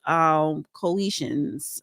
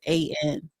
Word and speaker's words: Khoisan: Africa, and the first inhabitants of South Africa was the Coetians, if I'm pronouncing it right. No, It's they probably not are. pronouncing it right. It's Khoisan.